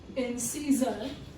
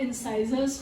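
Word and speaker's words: incisor: First one is इंसीजर, first one इज इंसीजर और इंसाइजर्स भी कहते हैं कुछ लोग, प्रोनाउंसिएशन इसका दोनों तरह से है.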